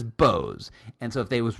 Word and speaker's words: Bose: it because every commercial on the planet says bose and so if they was really boze they would say the commercials boze and i said let's pick up the phone and call 1-800 bose whatever and see do they say hi you've